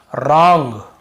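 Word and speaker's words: wrong: सीधी सी बात है हमें जब भी ऐसे कहीं मिलता है वर के साथ एक साथ हमें केवल ऐसे पढ़ना है रोंग राइट रैप रैपर रिंकल और रिस्ट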